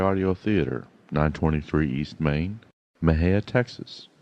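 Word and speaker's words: Mexia: theater 923 East Main Maha Texas Maha is spelled m e x i a our ZIP 7666 M&J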